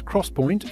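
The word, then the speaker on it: XPoint: most high-end optane products the 3D x-point which is pronounced as Crosspoint is the method that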